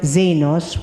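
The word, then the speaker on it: ξένος: The ancient Greek word xenos, which we pronounce it in Greek as xenos, which is also used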